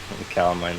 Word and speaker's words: Calamine: So I believe that means just you and Captain Calamine. That's her name. I might have just mispronounced it. no, it was like the lotion. Calamine lotion.